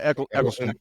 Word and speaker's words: Eccleston: that how you pronounce it? Yeah, Eccleston.